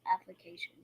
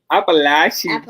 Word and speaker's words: Appalachian: But Danny, you have got to learn the correct way to pronounce application. Application? Appalachian State.